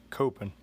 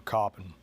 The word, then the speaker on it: Coppin: Today on Heroines of Hometown History, we're studying the life of Fanny Jackson Coppin, or Coppin, it's your pronunciation. She was born into slavery on January 8, 1837 in Washington, D.C.